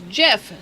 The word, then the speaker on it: GIF: so and then the the creator said it's jif so we're totally following